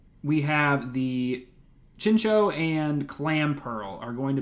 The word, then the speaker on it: Chinchou: Wow, for a long time, I always pronounced this Chinchou, and learning a little bit of Japanese, this is probably Chincho. That little extra U sound in there.